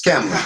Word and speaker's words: Kamala: Is it Kamala or Kamala? It's Kamala. You said it right.